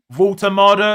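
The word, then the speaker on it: Woltemade: Saka 7, Kudos 2, Reinders 1, Semenyo 4, Voltamada, have I said it right?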